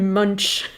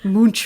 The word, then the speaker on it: Munch: scream the scream by edward munch munch which i feel like rex parker wrote to us once and was like you pronounced it wrong it's like we know